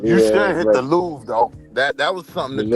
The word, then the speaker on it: Louvre: Louvre. He Yeah, doesn't I'm know about that to hit it. the R and the E is silent.